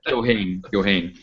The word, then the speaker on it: Keohane: We'll go with the American pronunciation. Keohane. I know it's originally an Irish name, but yes.